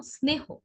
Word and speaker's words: স্নেহ: যেমন স্নেহ, স্নেহ শব্দটিতে কি স আছে 9 এর আগে, তার কারণে আমরা স্নেহ না বলে বলি স্নেহ।